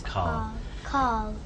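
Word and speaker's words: Karl: No, Carl. His name is Carl. Carl. K-A-R-L. Carl. Carl. Yeah. Carl. Carl. Yeah. Carl. It seems like without an R. Yeah, I think it's my accent rather than.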